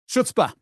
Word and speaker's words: chutzpah: Chutzpah. C-H-U-T-Z-P-A-A. There we are. Hebrew. Can you spell that one, Simon?